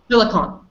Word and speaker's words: silicon: Silicon. So, I said in the beginning silicone. It's not silicone, it's silicon. Without the E. There is no cone.